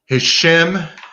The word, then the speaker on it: Hashem: that is crucial because hashem is his name shem rhymes with shame uh that's also a